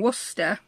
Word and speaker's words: Worcester: It's basically all the postmarks used in Worcester, that is how you pronounce it, we'll talk about that again later, between 1844 and 1983.